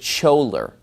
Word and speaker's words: choler: the word caller felt CH o le are he pronounces it scholer well obviously if people